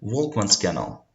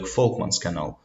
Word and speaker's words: Volkmann: So it's a German scientist, Folkmann, and that's why it's better to pronounce it like Folkmann's canal. So it's due to respect to Folkmann. But you can pronounce it like Volkmann canal, so it doesn't matter.